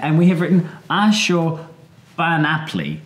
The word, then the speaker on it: Ashurbanipal: Ashurbanipal, which is not Ashurbanipal. Oh, that's the point, yes. Well, Ashurban or Bani Apli is the proper Akkadian name, but he's always called Ashurbanipal, and all these names go through a bit of distortion over time, one way or another, but actually Ashurbanipal is perfectly acceptable.